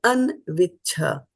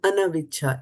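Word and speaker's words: अन्विच्छ: in the third line, we are saying anviccha. So this was va, we are pronouncing va, but this is just an and not ana. So this is not buddhau śaranam anaviccha. It's not anaviccha. It is just anviccha.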